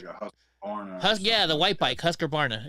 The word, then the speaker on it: Husqvarna: It's Husqvarna.